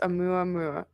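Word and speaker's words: ʻOumuamua: This space anomaly was called Oumuamua, pronounced Oumuamua.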